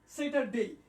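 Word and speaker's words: Saturday: ডে, স্যাটারডে, এটা ট এর পরিবর্তে ড ব্যবহার করা যায়, স্যাটারডে, স্যাটারডে।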